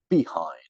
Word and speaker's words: behind: We're not saying behind, right? Behind, second syllable.